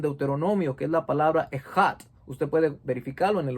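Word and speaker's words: אחד: se escribe eshat, pero se pronuncia ejat en hebreo.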